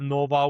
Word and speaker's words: Nåva: We chose to have Nova with the Norwegian O letter because it's the way we pronounce it in Norwegian.